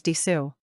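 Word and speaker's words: です: de please note that it is written as da and pronounced as Desu to English language owners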